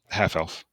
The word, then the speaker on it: half-elf: Half elf, Oh, but it's like the stress is on the half, not the elf part.